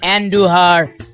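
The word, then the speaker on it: Andújar: Roll your Rs when you say Andujar.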